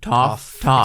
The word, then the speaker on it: Toph: And this is not the girl who's going to be playing Toph, but that's how you pronounce Toph? it. Toph.